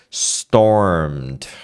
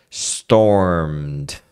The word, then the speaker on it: stormed: m arm Armed Armed o Storm mesma coisa stormed stormed percebe você sai do M que é o